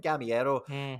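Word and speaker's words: Gameiro: him before and i missed penalty from kevin gamiero that's how you say his name i can't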